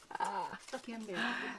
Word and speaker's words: Canberra: but I don't know how to pronounce Is it. it Canberra? Yep. Canberra.